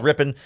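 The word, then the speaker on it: Rypien: offseason and I never I've always heard it as rippan but I think the Rams pronunciation guide says Rippin so I'm going to try and say I'm going to try and stick with rippen but my brain always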